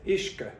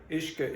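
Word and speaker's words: uisce: So the pronunciation is ishka, ishka, ishka, whiska, whiska, whiska, whiska, whiskey, whiskey.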